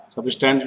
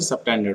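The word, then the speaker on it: subtended: We know that angle सबटेंडेड बाय, सबस्टेंड बोलते हैं इसे, सबटेंडेड होता है।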